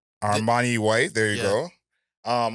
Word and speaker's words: Armani White: this project let me not to get his name wrong Armani white there you go um I was call Armani